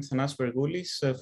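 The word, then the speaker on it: Thanasis Vergoulis: go ahead uh thanks uh the pronunciation was nice it was okay can you see my screen yes perfectly okay uh thanks so uh hi i'm thanas bergoulis from athena research center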